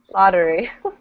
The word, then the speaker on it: lottery: lottery lottery lottery lottery how do we pronounce the tt like it's a one t it's like a d actually lottery like this lottery okay and again what